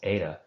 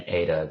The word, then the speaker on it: eta: Most classicists, when they're reading an eta, they do tend, in the English-speaking world, to qualitatively pronounce it differently as well as quantitatively from the epsilon.